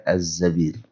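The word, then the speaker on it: الزَّبير: Ini satu-satunya tulisannya sama dengan Zubair, tapi bacanya adalah Az-Zabir. Pada umumnya Zubair ya.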